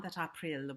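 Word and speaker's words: Aprille: the canterbury tales juan april with the show that is that schwa at the end that the silent e gives us it's become silent now but it wasn't silent back then that's a lot to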